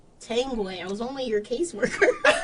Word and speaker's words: Tanguay: Tanguay.